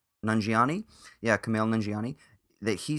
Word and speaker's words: Kumail Nanjiani: and directed and starred in the big sick Kumail Nanjiani Nanjiani yeah Kumail Nanjiani that he said something like